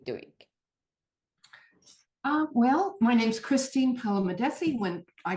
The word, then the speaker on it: Palamidessi: mispronounced your last name. Palamidessi, please.